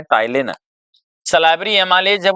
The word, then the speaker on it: टाइलिन: दूसरा नाम होता है टाइलिन। सलाइवरी एमाइलेज जब वो स्टार्च को किसमें चेंज कर देती है, ग्लूकोज में। सलाइवरी एमाइलेज, इसको टाइलिन कहते हैं, पी इसका साइलेंट होता है, इस तरह से पढ़ते हैं।